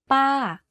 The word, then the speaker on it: ป้า: To say this tone, focus on pitching your voice to go slightly up first and then to fall down at the end of the syllable. Here's an example. ป้า aunt. You can hear from my voice that my pitch went up and then down very slightly.